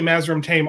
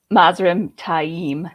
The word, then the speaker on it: Mazrim Taim: Mazrim Taim. It is Taim. It is Taim. My strategy kind of worked because it got Steve to say it wrong. Thanks. Yeah, you're welcome. This is still one that he's always going to be Mazrim Tame. It's Mazrim Tame. It's just Taim.